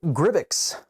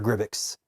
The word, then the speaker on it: Grybyx: And so there's a possibility that we might see from Neca a larger Gribbix. I think that's how you pronounce it. Gribbix? That's how it's spelled.